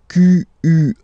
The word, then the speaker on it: quelle: And then the feminine form is written like that, Q-U-E-L-L-E, but it's pronounced like the masculine form. Quel, at the masculine, quel at the feminine.